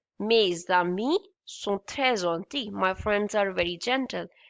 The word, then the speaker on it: gentil: We don't speak ls here, okay? This is only called gentil. L is silent in this word, in this letter, in this word. There is no rule which states that L at the end will be straight, but in this word, in this particular word, we don't pronounce L.